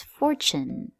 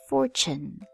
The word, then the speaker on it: fortune: It has T-U-N-E like the word tune, but when it's together here, we pronounce it like this, chun. So the word is fortune, fortune.